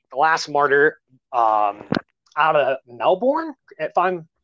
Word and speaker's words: Melbourne: martyr um out of melbourne if i'm correct yeah yeah but you have to pronounce it like an australian and call it mel ben now then it's not